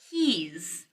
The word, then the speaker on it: he's: the first thing is the z sound great like he's he's he's he's he's he's he's